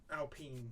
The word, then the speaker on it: Alpine: trousers on because you're an alpine fern alpene yes apparently that's how that's pronounced i i've been playing